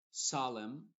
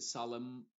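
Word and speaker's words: solemn: n original y en palabras que terminan en m n que hay algunas la n es muda y la m sí se pronuncia por ejemplo solem no se dice solem y con la n al final solem sino solem condem por ejemplo dam o autum en ese caso la n está siendo muda y después la otra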